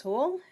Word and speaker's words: Hool: My name is Mrs. Hool. You can remember how to pronounce it because it rhymes with pool.